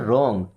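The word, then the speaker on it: wrong: क्या होता है गलत अब यहां पर ध्यान दीजिए डब्ल्यू साइलेंट है ओके हालांकि आर के पहले कभी भी डब्ल्यू आता है वो साइलेंट ही होता है रॉन्ग मी्स क्या होता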